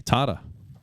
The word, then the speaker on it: Tata: specific request from Tata Tata how do you say it her Canadian said tada tada tada oh it's like a long a Tata according to my govern